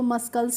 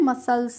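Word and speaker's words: muscle: नहीं पता हो तो इसको मस्कल भी पढ़ सकते हैं मस्कल पढ़ सकते हैं तो मस्कल नहीं पढ़ना है मसल्स पढ़ना है यहां पे एस और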